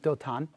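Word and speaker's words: Dothan: sends an army to dote on the H is silent doulton and surrounds the home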